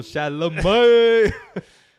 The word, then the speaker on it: Chalamet: Shout out to the 3-syllable Chalamet.